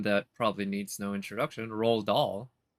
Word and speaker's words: Roald Dahl: probably needs no introduction roll doll spelled the same way as this guy's name and d-a-h-l his last name a lot of classics